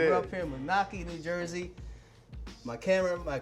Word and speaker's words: Moonachie: Did I pronounce it right? Yes, Moonachie? you did. Yes, all right. you did. We're up here in Moonachie, New Jersey.